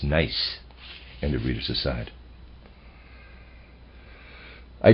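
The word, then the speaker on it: gneiss: I've been pronouncing it nce I apologize the correct pronunciation is nice and of readers aside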